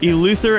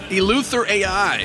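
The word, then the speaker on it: EleutherAI: yeah and you're with I'm going to also butcher the name of the org elther AI elther El Luther AI yes okay what is this what is a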